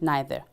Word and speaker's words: neither: Today we will learn how to agree with so and neither. Or you can pronounce neither. Both ways are acceptable.